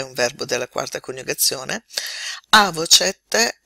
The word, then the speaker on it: avocet: Avocet è anche un congiuntivo. Andiamo a vedere questo verbo se non altro per la pronuncia.